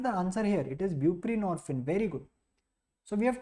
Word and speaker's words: buprenorphine: is opioid mu agonist buprenorphine see norphine rhyming with morphine it is a partial